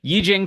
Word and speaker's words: Yijing: So I can't now that I know how to pronounce it correctly. I can never remember to Yijing questions from I believe March 1974 because they're